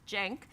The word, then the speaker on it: Cenk: Cenk, pronounced Cenk, is the founder and CEO of the Young